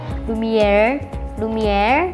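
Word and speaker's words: Lumière: Lumiere Factory, atau enggak Lumiere itu bahasa Prancis, jadi bacanya lidahnya naik R kalau di Prancis ya, jadinya Lumiere.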